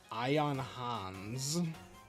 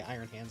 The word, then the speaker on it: Iron Hands: Ion Hans. Why did I say it like that? Why did I say Iron Hands like that?